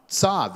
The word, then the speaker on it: Tzav: It's a tzadi and a vav. Tzav is how you say that.